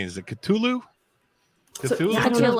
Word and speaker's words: Cthulhu: Now we're getting to Lovecraft's Cthulhu.